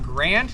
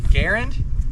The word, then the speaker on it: Garand: Uh, a lot of people call it Grand. He called it Garand. Um that's just how he likes to pronounce it.